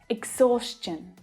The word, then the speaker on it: exhaustion: When the consonant sound s is the sound right before the TION, the pronunciation becomes chun instead of shun, ch instead of sh. Question, exhaustion, digestion.